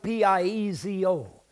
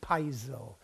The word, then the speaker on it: piezo: It's spelled P-I-E-Z-O, so I pronounce it piezo. There are many who pronounce it, especially in the elite group of scientists, piezo. Now, there are others who pronounce it piezo, but I pronounce it piezo, P-I-E-Z-O, because P-I-E spells pie to me.